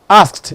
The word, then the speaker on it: asked: Whenever you have the past tense marker, ed, the one that you use to form your past tense, coming after a voiceless consonant, it is pronounced t. That's why it is asked, not asked.